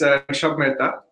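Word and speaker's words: Rushabh Mehta: Yeah, so it's Rushab Mehta, and then the name of the company is Frappe.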